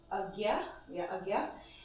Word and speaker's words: Ajna: It's called Agya, and it's spelled Ajna, And then the last